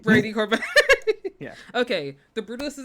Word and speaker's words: Brady Corbet: Why did I say his name wrong? Uh, start over. Brady Corbet. Brady Corbet.